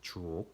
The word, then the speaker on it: 주옥: 이 발음 조심하셔야 돼요. 주옥 같아요. 진짜 주옥 같아요.